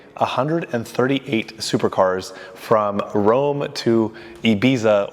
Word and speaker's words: Ibiza: supercars from Rome to Ibiza, or Ibiza as they would pronounce it here in Spain.